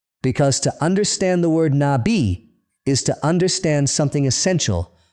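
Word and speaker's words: נביא: Nabi spelled in Hebrew nunb yad alf. Four letters two syllables nabi. The accent falls on the second syllable nabi.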